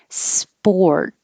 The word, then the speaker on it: sport: leave it there witness sport when you start spore immediately start rounding your lips to make the or sound and you don't release the t just hold it sport if it was